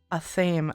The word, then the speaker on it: athame: This is what happens when you don't have other people to bounce words off of growing up, because they also mispronounce everything. A theme.